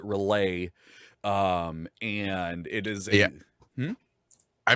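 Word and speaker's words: R'lyeh: a city called and it goes back and forth on how you pronounce it i pronounce it relay um and it is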